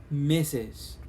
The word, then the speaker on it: Mrs: is missus okay okay now it sounds it sounds like uh when you're referring to a girl right the missus okay yes but it's also okay the verb it's spelled different the missus okay okay and mrs okay so you can use